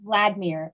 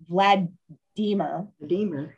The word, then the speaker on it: Vladimir: it looks like it's vladimir it rot but that's not how he said his name it's um it rhymes with redeemer so vlad deemer redeemer nope no bukov